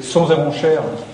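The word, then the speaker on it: Sons-et-Ronchères: Vous avez Sons et Ronchères, je prononce bien Sons et Ronchères, parce qu'on m'a fait remarquer qu'il fallait pas dire Sons et Ronchères.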